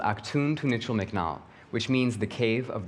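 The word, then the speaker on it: Actun Tunichil Muknal: the caverns my mom can never remember or pronounce the name of the cave but it's called Ock tuned to Mitchell McNall which means the Cave of the crystals of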